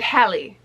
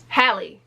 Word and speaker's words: Halle: it with me hallie it's so strange how people can't pronounce h-a-l-l-e when it comes to chloe and hallie well y'all don't have no issue pronouncing halle berry it's the same name it's spelled the same it's the same name y'all been saying halle berry for the last 30 years which i can't say